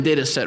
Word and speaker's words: Datasette: people don't go to it's um spelled like the Commodore 64 tape drive um so it's da a TTA like a cassette but for data data set cassette so think about that